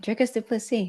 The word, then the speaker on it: Dricus du Plessis: back rain what a fantastic interview with Mr drus dupi awesome you said it right dricus dupy yeah anyone who wants to know how to pronounce his name talk to me message me